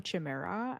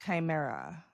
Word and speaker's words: chimera: And the way that it's described through the lore is that it's almost like a chimera, and a chimera back in Greek mythology was